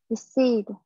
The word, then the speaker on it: decide: Từ này thì mình sẽ đọc là decide.